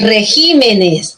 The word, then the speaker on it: regímenes: J igual en Espécimen cuando se pluraliza para que siga siendo esdrújula el acento pasa de la sílaba p a la sílaba así entonces aquí es regímenes regímenes ya es regímenes la la tilde en